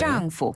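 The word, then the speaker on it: 丈夫: 요 발음은요, 위에서 아래로 뚝 떨어지는 네. 짱푸.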